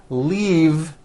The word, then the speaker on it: leave: glove alive and leave this last word leave is very different from the word Leaf like from a tree which has an unvoiced F the word is leave